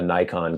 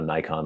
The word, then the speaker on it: Nikon: not Nikon it's Nikon if you want to pronounce it the way a Japanese person says it not Nikon and it's